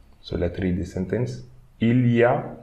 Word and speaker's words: il y a: Okay, this we can read il y a, okay, but most of the time French people will say il y a. So ya, okay, we are reading this as one single word, ya.